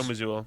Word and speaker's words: Mazzulla: I could obviously we could all see Mazzulo. Monty? Mazzulla? No, that doesn't. Yeah. How do you say his name? Joe Mazzulla.